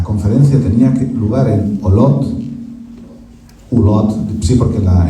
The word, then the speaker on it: Olot: tenía que probar el olotte Sí porque la en catalán las oves notónicas se pronuncian como UV resolución centro